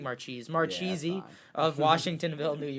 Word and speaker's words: Marchese: Is that how you say it? Marchese. Marchese. Yeah, I'm saying Marchese.